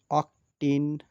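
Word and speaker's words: octene: এই শ্রেণীর যৌগের নামের শেষে ইন উচ্চারিত হবে, যেমন অকটিন, ননিন।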